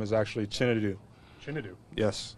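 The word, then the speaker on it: Chinedu: my middle name my first name is actually chinu chinu yes how do you spell that c h i n e duu and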